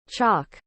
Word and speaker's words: chalk: blunt what is the opposite chalk note the pronunciation chalk clay habits skill satisfy also satisfaction satisfactory fussy